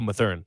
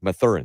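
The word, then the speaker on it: Mathurin: uh whose name i've already forgotten how to pronounce uh benedict oh my theorem my thurin yeah thank you goes to the other pacers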